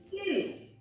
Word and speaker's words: city: It's more like city.